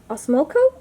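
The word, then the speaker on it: Osmocote: I just stuck it right into the ground with a mix of sand and soil and osmoco is how you say it, so the fertilizer.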